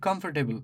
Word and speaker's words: comfortable: So, at the end of the chin, put your hand and pronounce the word comfortable.